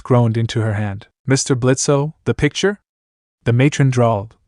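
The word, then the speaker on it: Blitzø: For the last funking time, it's just blitz. The O is silent.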